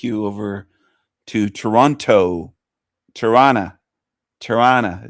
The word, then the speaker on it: Toronto: Torana is the way they call it. Torana. Not Toronto. Toron. Toronto. It's the way some Americans say it.